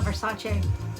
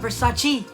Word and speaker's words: Versace: She said, yes, I want people to know it's not Versace. It's not Versace. It's Versace. Or Versace. Versace is Versace. So I'm always really careful to say it like that, because I didn't know, you know, until I saw that.